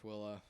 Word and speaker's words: Tooele: I was just wondering why we pronounce it. I guess it's like hurricane, hurricane, Well, and it's Tule, Tooele. Twilla.